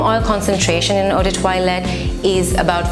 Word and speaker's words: toilette: Yes, it sounds like toilette, but it's pronounced toilette.